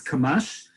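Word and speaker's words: קמ״ש: is uh kamash now this one we do pronounce is kamash and kamash stands for kuf gilsheim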